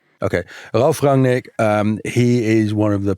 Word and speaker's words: Ralf Rangnick: called Ralf Rangnick at Ralf Rangnick. Right. I would hate listeners to get German pronunciation from someone who grew up in Holland, but this is a better approximation than Mehreen's.